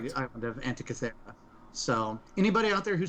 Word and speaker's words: Antikythera: Antikythera. Okay, I was so close. I think that's the consensus on the pronunciation.